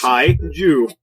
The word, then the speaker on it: kaiju: There's no way I can pronounce that. It's Kaiju.